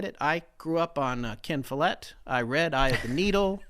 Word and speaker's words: Follett: I grew up on kin Follette I read I have needle I read write even though I only learnt recently learned how to pronounce his last name I thought it was followed and then and then